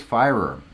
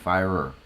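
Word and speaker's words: Firer: pronounce your last name it is fire er fire so it's like fire with an ER at the end fire er that's how you pronounce my last name if you are interested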